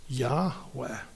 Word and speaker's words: Yahweh: speaking is eh yeah when you refer to that person the pronunciation is Yahweh and Yahweh you know